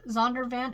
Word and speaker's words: Zondervan: the faith element of the story but zonder zondervan is that's how it's pronounced the publisher that's what they do they